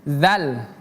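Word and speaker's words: ذ: Huruf dzal ini pemirsa berbeda dengan zai. Ini zal. Ini zai. Yang ini bacanya dza. Dzi ujung lidah bertemu gigi seri atas dzal eh huruf dzal dza dzi yang zai itu seperti kita menyebutkan huruf z dalam bahasa Indonesia za zi zu z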